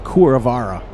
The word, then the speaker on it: Kuravarra: RR something Kuravarra, but the Kuh I guess is pronounced Kur, so it's Kuravarra.